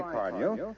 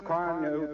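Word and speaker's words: Carnu: Get some Johnson's car new tomorrow, sure. Car new is spelled C-A-R-N-U.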